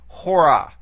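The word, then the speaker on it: ὥρα: You see here that it's accentuated, forget the breathing mark for a second, it's accentuated on the first syllable, the omega, hora.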